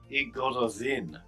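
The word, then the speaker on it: Y Gododdin: Would you pronounce that I? It is. Yeah. Yeah, it's E. Gododin.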